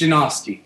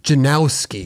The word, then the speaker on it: Janoski: It's Janoski. Janoski. Yeah. I think everybody says Janowski. Janowski? Like there's a W in there.